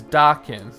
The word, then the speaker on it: Dakin: It says Dakin on the like rhymes with Christopher Walken.